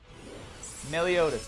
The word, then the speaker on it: Meliodas: There he is, Meliodas. I always say his name kind of wrong, I think. Meliodas? My goddamn accent prevents me, I guess, from saying it correctly. I'm gonna have to practice. Meliodas.